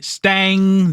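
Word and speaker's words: Stange: They opened the season with a rotation of Pasqual, Cot, Dick Stigman, Lee Stang, the E at the end of Stan is silent, and Jim Roland.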